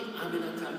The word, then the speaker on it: Aminata: Aminata, 4 syllables. It's really not that hard.